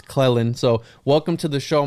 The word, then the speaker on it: Clelland: I've mentioned you a few times, and I've always said Cleland, but it's Clelland.